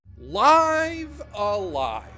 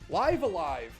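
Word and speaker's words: Live A Live: Live alive. And yes, that is how I will be pronouncing it for the duration of this video. And if you don't like that, then I don't like you, my friend.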